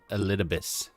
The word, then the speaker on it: Elidibus: That's how you say that guy's name, Elidibus. Elidibus, yeah. Elidibus is saying it right.